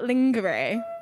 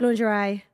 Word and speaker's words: lingerie: do you say right not like linger though is it yeah yeah linger but how would you say that lingerie yes said linger I've been saying linger for years so I can get